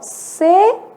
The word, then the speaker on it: sequência: Nesse caso, o U é lido, né? E ele é lido com som de trema. Então, nesse caso, ele tem um som de semivogal.